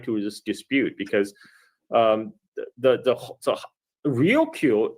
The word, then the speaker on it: Ryukyu: Now, Okinawa itself, the Ryukyu island chain itself, also is actually tied to this dispute, because so Ryukyu is the Japanese pronunciation of Luchu, which is what the island called themselves.